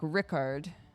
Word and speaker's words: Richard: so there you go in old French Richard takes the harder sound so it's pronounced more like Rickard which is why it